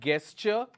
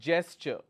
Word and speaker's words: gesture: which is gesture so this is not --guest sure it is gesture alright so it starts with a curse out not girl it's Joe Joe a Jay sir